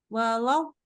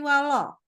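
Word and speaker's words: ولا: Dibaca jadi gini. Walau jadi bukan wala, tapi walo. Gitu ya.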